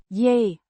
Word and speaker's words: je: Y means you pronounced Yay. Similar to the Y in yes, but with a slightly softer H sound.